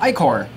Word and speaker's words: ichor: I can fill it with magical ichor. That's pronounced ichor. Because the player might be 12 and have literally never seen the word ichor before.